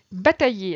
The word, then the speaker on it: batailler: Batailler, attention toujours à ce I, deux L qui se prononce ye.